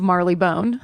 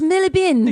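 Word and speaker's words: Marylebone: was evacuated out of uh London, out of Marley Bone. They're going to be like, "It's pronounced Millibin."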